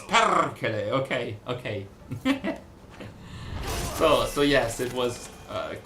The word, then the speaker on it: Perkele: people getting mad because Perkele, as pronounced by Andreas Apergis as Otzoberg, was not the right pronunciation for that. Because it's like, it should be something like Perkele or something like that. I remember having this chat with Kata already.